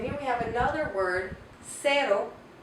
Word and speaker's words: cero: And here we have another word, cero. Cero makes the soft C sound.